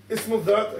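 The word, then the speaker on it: اسم الذات: So ismul dhat, again, that's how you pronounce it.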